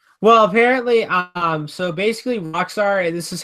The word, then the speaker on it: Roxor: Well, apparently, so basically Roxor, this is how you spell it.